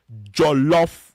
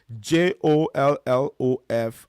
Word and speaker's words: jollof: heard at some point in your life, is Jollof rice. J O L L O F, and then rice.